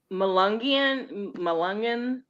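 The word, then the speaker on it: Melungeon: Malungian.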